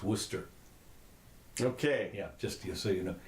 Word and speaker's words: Worcester: in case you're interested Worchester is pronounce Worcester okay just so you